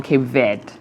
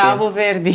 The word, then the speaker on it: Cabo Verde: But what's the other pronunciation? Cabo Verde. Cabo Verde. Yes. Cabo Verde. Okay. It's not to say that Cape Verde is wrong, right? No, it's not wrong.